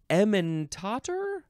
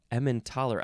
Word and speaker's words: Emmentaler: Next is emmentaler? No, emmentaler.